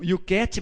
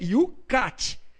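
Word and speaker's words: YOUCAT: este ano o yucati alguns pronunciam e o cat mas não é parece-me que o correto é you cat porque até no inglês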